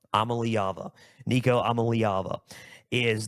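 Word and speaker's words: Iamaleava: leava last year so this is how you pronounce it let me just clear it all Nico I'm a leava I'm a leava Nico I'm a leava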